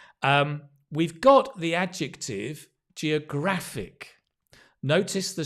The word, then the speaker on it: geographic: or Greek based words when we change the word form to an adjective or a verb or a noun the stress the syllable stress changes say with me Geographic geography geographer Geographic often